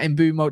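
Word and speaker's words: Mbeumo: And I know we're looking at Mbuemo, and I've seen Arsenal looking at Mbuemo.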